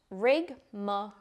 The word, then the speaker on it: rigmarole: rigar let's talk about rig pronounced rigma this noun means a